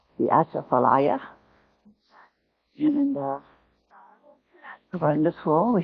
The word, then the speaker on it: Atchafalaya: Okay. Cha, Cha, fa, fa, la, la, ya. Atchafalaya. So you get it? Laya. Laya. Just jambalaya. Atchafalaya.